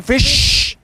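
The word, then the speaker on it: fish: ครับ ฟิ ครับ ฟิ จริง ๆ แล้ว ฟิ เรา ต้อง ออก เสียง อย่าง นี้ ฟิ เอา ใหม่ ฟิ ฟิ ฟิ แบบ ชอ ช้าง ต่อ ท้าย ฟิช ฟิ ฟิ โอเค ได้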